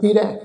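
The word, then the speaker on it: ਹਿਰੈ: रारे दे उपर दुलावां दा पाठ नाल बिंदी ला के उच्चारण करांगे हिरै, खो लैणा हर लैणा।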